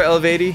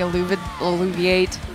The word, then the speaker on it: Eluveitie: so do you guys remember elevati do you remember I'm pretty sure that's how it's pronounced now I don't remember them at all yeah the one we were calling alluviate a Louis Vuitton yeah